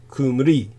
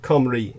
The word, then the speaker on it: Cymru: pronounced the way it's spelled so it's really pronounced uh like kumri or kamri uh it it's it's anyhow uh Celtic language